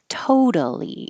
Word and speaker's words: totally: So in the first one, totally, in the word by itself, the syllable to is stressed. Totally. It's not totally, totally. It's totally. One, two, three.